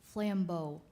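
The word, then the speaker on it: flambeau: and correct number 70 reba your word is flambo flambo flambo okay f l a m b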